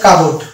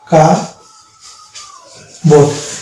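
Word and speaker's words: cupboard: পিবি, পি এর পরে যদি বি থাকে তাহলে আমরা পি কে সাইলেন্ট ধরবো, পি কে বাদ দিয়ে উচ্চারণ করবো। তাহলে এটা হচ্ছে কাবোর্ড।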